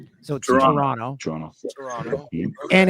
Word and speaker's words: Toronto: Canadian it's t it's Toronto you don't pronounce the second T because Americans love to say the Toronto so Toronto Toronto Toronto and it's